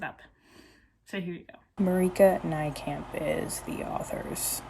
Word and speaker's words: Marieke Nijkamp: Marika Nijkamp is the author's pronunciation.